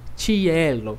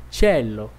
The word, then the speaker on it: cielo: ir muito forte né Eu não disse Cielo que eu disse tchelo tchelo OK então cuidado